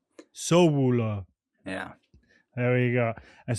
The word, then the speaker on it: Sowulo: How do you pronounce it properly? I would say Sowulo. Sowulo.